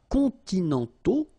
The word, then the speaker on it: continentaux: Okay, so les climats continentaux, remember, final X not pronounced, and then this AU together, they give you the sound O, okay?